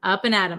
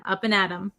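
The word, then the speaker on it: up and at 'em: of the pronunciation uh we say Adam Adam it becomes a flap T so it sounds like a D sound up and Adam up and Adam up and adom okay so up and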